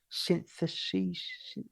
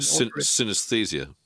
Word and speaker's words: synesthesia: but it was all about, I can't even pronounce it properly. Syntheses. Yeah, it's where you see music as colours and synesthesia.